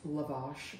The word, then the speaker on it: lavash: Apparently it's pronounced lavash bread, okay. L-A-V-A-S-H.